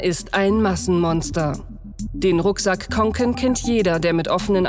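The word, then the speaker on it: Kånken: Konken. Da ist so ein A, da ist so ein, Konken. So ein runder Kreis über dem A. Das heißt O, das sozusagen. Konken.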